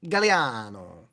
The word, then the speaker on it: Gagliano: My last name is G A G L I A N O Gagliano, but it's actually pronounced Galano.